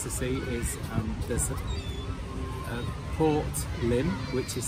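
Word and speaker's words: Lympne: see is um port lim which is spelled l-y-m-p-e and it's pronounced limb and it's a roman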